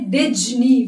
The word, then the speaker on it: Disney: Focus on this section, S. That is Z. We never say Disney. We say Disney. That's the Disney Club.